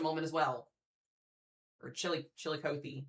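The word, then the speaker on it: Chillicothe: in just a moment as well or Chili Chilikothy. Chilikothy. Thank you guys. I appreciate it.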